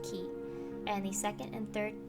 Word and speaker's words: 気: this word means feeling the first kanji is pronounced ki a pretty common pronunciation for in my experience